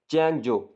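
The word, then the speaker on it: Changzhou: Beginning ان دنیانگ, شروع ہوتا ہوا دنیانگ چینگجو. اچھا یہاں یہ چائنا میں چونکہ بنا ہوا ہے تو ان کی لینگویج میں جو آگے سپیلنگ لکھے ہوئے ہیں ZHOU, اس کو جو پڑھا جاتا ہے, چینگ جو.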